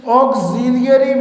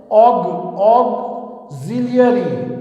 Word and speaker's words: auxiliary: Number 3 है students ऑक्सिलियरी verbs. पहले तो ये प्रोनाउंसिएशन जो है गौर से सुने, आपने इसको प्रोनाउंस जो करना है, ये क्या वर्ड है, ऑक्सिलियरी, ऑक्सिलियरी verbs, ऑक्सिलियरी verbs.